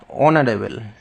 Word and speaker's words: honourable: Because এখানে এইচের উচ্চারণ কিন্তু তোমার অনারেবল অ আসছে, ঠিক আছে?